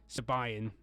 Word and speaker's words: Siobhan: being of Irish ancestry, like Siobhan being spelt Sibo, the rest of it, and it's Sabayan. That's how some people pronounce it.